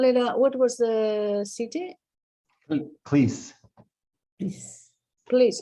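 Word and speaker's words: Klis: Cleese. Please, how do you spell that?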